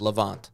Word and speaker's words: Levant: the L how do you say Levant or lant Levant okay Egypt and North Africa which I thought